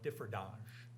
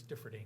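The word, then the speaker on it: Differdange: cities is differing Luxembourg some people may call it diange but it's differing is how they pronounce it uh and they are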